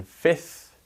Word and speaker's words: fifth: where as i said you don't pronounce the f in fifth you do pronounce the